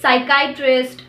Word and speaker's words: psychiatrist: churches the letter p the letter p is usually silent in letter combinations of pt pn and ps at the beginning of the word psychology psychiatrist pneumonia the letter r fortunately